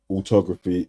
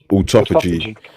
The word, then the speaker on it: autophagy: Wouldn't you have more knowledge on the workings of like autography? Is that how you say it? Autography or autophagy? Autophagy, yeah, and like recomposition and all that.